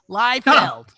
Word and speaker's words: Liefeld: Dino habla Feld is say his name right Liefeld like Vettel Rob Liefeld is she